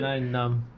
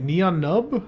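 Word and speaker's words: Nien Nunb: It's one of those things that people pronounce. It's like at and AT-AT. Yeah, but that's more understandable. There's definitely a way to pronounce his name. There's definitely a lot of people that say 9 num.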